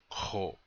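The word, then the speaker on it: k̇o: Kho. So, that's how you say it. Repeat after me, please. Kho. One more time. Kho. Has a guttural K sound. The dot over the K means it's guttural.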